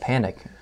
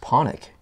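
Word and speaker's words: Pánik: in his like panic his name is PA and I K and that's how we would prance it but apparently in his home country is actually pronounced ponic okay and he he eventually just said just call me panic yeah I guess that's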